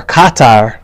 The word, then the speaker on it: Qatar: the snake right well Qatar or Qatar as as plenty Americans say is a is a